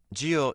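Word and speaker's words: 韭: the answer is chives it's called geo sigh in Chinese and geo also means long so this indicates long life if you eat it regularly geo also means alcohol it has the same pronunciation as geo meaning long because alcohol is something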